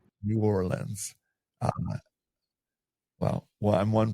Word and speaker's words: New Orleans: You're down in New Orleans. Uh, did I pronounce New Orleans right or is it New Orleans?